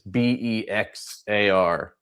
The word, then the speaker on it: Bexar: It's Bexar, but you pronounce it Bear.